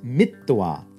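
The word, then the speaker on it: mitvā: put or placed likewise the root ma which means to measure will weaken to meat with a short e and we'll get mittwa having measured ba to drink uh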